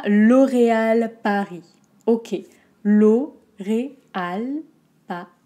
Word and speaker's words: L'Oréal Paris: ans ensuite on à l'oréal paris ok law ray al pas pris l'eau au très fermé ray très fermé aussi à l'oréal a ri on n'entend pas le s de paris l'oréal l'oreal paris l'oréal